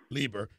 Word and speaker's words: Leber: guest other guest with carrye picket is laber did I pronounce that correct correctly yes sir Liber spokesman for the American Patriots and the 3%